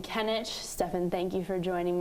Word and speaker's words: Kenic: People would call me Stefan, which is not correct. I'm Stefan, and it's also Kenic.